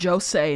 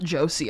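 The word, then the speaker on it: josei: By the way, it's Jose, not Josie. I don't know why she's pronouncing it like a name.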